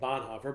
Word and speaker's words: Bonhoeffer: those of you who other people call it bonhoeffer but i believe it's bon hayfer is that correct german pronunciation it doesn't matter you